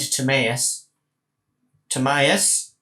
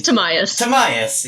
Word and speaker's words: Tamiyas Tomius: until i can find timmaeus tomius the dm has forgotten how to pronounce my friend it was tamiyas tomius yes until i could